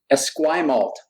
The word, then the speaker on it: Esquimalt: Esquimalt.